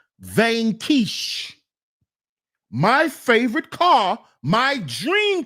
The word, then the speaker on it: Vanquish: is the Aston Martin vanish not Vanquish it's pronounced vanish my favorite car my